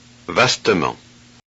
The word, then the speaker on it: vastement: Thus, to avoid having three speech consonants in a row, the vowel E must be pronounced. Look and listen. doublement, parsemé, vastement, Oh, okay.